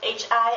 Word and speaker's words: Himmel: For example, the word Himmel, which means sky or heaven. It's spelled Himmel, and because there's an MM, the I is pronounced short.